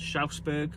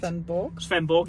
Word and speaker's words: Svendborg: Initially we went to South Denmark in a place called Schausberg or Scharberg. Is that right? Svendborg. Yeah, wrong again.